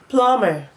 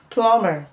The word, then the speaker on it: plumber: tum k womb thumb thumb climb climb Plum plumber plumber B bomber bomber suum Sak so we've come